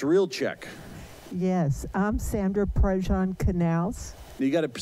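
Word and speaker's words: Prazan: Yes, I'm Sandra Prajan Canals. You got to spell that for everybody. P-R-A-Z-A-N. And what do people usually say when they see that? Praise it.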